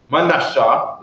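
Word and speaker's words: מנשה: Manasha is how you say it in Hebrew, correct?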